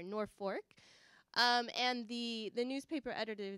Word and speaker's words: Norfolk: a slightly larger town called Norfolk spelled Norfolk yes I think I said it right right I learned when I was there North Fork and the the newspaper